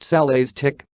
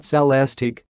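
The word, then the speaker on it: Celestiq: buried by the time the cellistic pronounced salah's tick not celestig shows up in 2024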